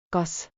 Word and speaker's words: kas: kas Sounds like cause.